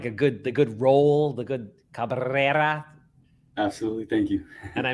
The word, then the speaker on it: Cabrera: I got like the good Cabrera.